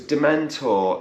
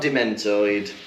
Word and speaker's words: dementor: why does that because dementor is not a hard word to hear no just say it properly right it's not dementored he's throwing in these